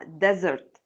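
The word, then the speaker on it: desert: اهو اللي هو مشغول الاس هنا بتتنطق ذا بزي زي زي ابن العم كزن مش كسن كزن زي سحرا ديزرت يبقى الاس ليها نطين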